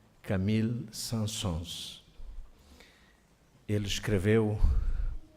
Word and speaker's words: Saint-Saëns: chamado, creio eu que é assim que se pronuncia, Camille Saint-Saëns.